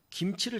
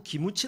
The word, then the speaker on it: 김치: 있었습니다 우리가 식사를 하면 김치를 자꾸 기무치 가 그래요 그냥 넘어갈 수도 있는데 것을 이더라구요 고쳐 줘야 겠다 정확한 발음을 가르쳐 주자 제가 불러서 훈련을 시켰습니다 기무치 이 아니야 김치 해봐요 김치 김치 김치 기무치 기무무 얻고 킴